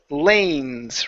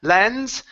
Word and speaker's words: lanes: Next up is lanes. Right here. Long a sound instead of lens.